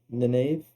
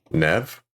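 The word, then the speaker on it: Neve Campbell: Nave. Nineve Nave. I don't know. I never know how to say her name.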